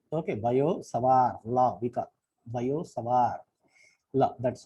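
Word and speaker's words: Biot–Savart: Okay, actually, though there are T's, say Biot Savart Law, people say T is silent in both. Okay, Biot Savart Law, because Biot Savart Law, that's how it should be pronounced.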